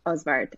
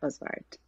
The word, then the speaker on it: Osvart: to the wonderful Andrea of art now if I pronounce your surname correctly hi good morning everyone thank you David uh I pronounce it osbart Andrea oswart awesome awesome I have